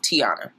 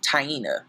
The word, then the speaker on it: Taina: the comment section but her name is pronounced taina tiana decides to give